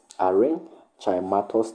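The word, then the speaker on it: aerenchymatous: A e r e n c h y m a t o u s archimatus tissue. Arin chimatus tissue.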